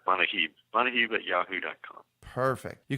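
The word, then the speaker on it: Manujib: You pronounce that Manahib.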